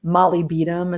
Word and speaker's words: molybdenum: Molybdenum is a mineral. Molybdenum is another way to pronounce it, is helpful.